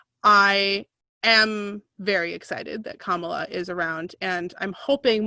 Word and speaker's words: Kamala: Okay, I keep saying her name wrong. Kamala. Emphasis on the beginning of the name.